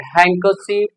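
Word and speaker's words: handkerchief: जैसे आप यूज करते हैं हैंडकरचीफ कहते हैं, नो, डी is silent, हैंडकरचीफ।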